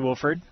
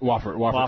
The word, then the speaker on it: Wofford: So you went to Wolford. Yeah. Am I saying it right? Yeah, Wofford College.